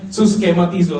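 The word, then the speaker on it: συσχηματίζω: 12 ayat 2 itu ini bahasa yunaninya susematizo suskematizo sor benar-benar dia bacanya suskematizo saya garis bawahi dan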